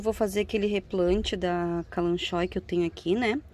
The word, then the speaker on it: Kalanchoe: Eu falo calanchoe, gente, tem gente que fala calanque, tá? Cada um fala da maneira que achar que é o correto da pronúncia, né? Enfim, eu acho até que eu tô pronunciando errado, mas eu já peguei a mania de falar calanchoe, vai calanchoe.